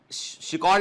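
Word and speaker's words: Eschscholtz: में जो है वो शिकॉल ने, इसको शिकॉल प्रोनाउंस करते हैं, स्पेलिंग है इसकी ESCSCHOLTZ के। शिकॉल जो है, शिकॉल ने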